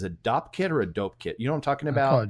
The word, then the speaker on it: Dopp kit: pronounce it as a Dopp kit or a dope kit you don't talking about a domkop kit yeah so it's a Dopp kit filled with a bunch of things and they're